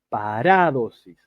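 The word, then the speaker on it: παράδοσις: Yo ahí me comí un acento en la A, en la segunda A. No es paradosis ni paradosis, es paradosis.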